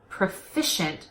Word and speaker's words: proficient: slide first of all make sure that profession and proficient sound completely different there are different vowels in the second syllable but other than that they're pretty similar so profession with an egg proficient with an it also notice the preposition